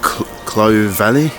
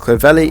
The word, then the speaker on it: Clovelly: here by the way I called it Clove Valley so I have no idea a lot of most